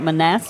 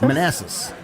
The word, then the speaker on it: Manassas: Manassas? Manassas.